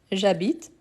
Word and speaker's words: j'habite: Donc, ici, le verbe habiter, c'est un verbe qui commence par un H muet. Donc, on fait élision. Donc, j'habite.